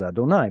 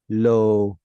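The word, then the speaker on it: יהוה: us pronounce it as Adonai. But now we've got a reduced vowel. Sometimes we'll get a cholam, but not here. And then a chirik. That reminds us to read it as Elohim.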